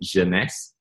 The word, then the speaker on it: Jeunesse: So Jeunesse is actually French for youth. The word actually means youth in French, so pronounce it Jeunesse.